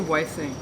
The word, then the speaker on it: Wifthing: How do you pronounce it? I say Wifthing. Wifething.